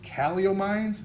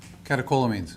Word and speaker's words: Catecholamines: The CEW allegedly causes great pain, and this led to increased caliomines. How do you say that? Maybe you can help me out. Okay, thank you. Catecholamines.